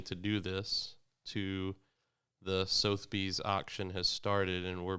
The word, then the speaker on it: Sotheby's: we're raising money to do this, to the Sotheby's auction has started and we're bidding on it. What's Did you say Sotheby's? Sotheby's? Yeah, what's that? It's What is- Sotheby's.